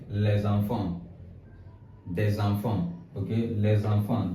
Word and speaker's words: les enfants: Let's say les enfants. Les enfants. Les enfants. And I want to tell you the reason why I'm pronouncing this S in les enfants.